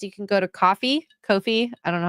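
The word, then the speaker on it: Ko-fi: It's pronounced Kofi.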